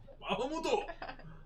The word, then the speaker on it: Bahamut: Bahamuto. Bahamata. Bahamut. Bamu. One of my favorite anime But is called Rage of Bahamut, but they never say it right. It's always Bahamuto.